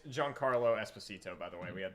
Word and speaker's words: Giancarlo Esposito: It's Giancarlo Esposito, by the way. We had the name wrong.